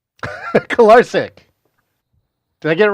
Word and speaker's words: Kolarcik: Oh, and secondly, it's pronounced Kolarcik. Kolarcik.